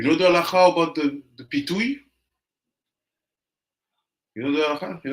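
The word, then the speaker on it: פיתוי: In Hebrew, pitouille. Pitouille.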